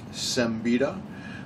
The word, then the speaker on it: Siembieda: off the bat because a lot of people wonder how I pronounce my last name it is sembita I pretty much answered